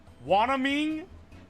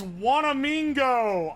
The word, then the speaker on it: Wanamingo: That is not how you say my name. How do I say it? Wanaming? It's Wanamingo.